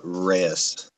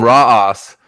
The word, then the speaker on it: Reyes: I've been calling him Raw Os.